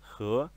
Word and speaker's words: 河: Então a pronúncia do ideograma de rio é he.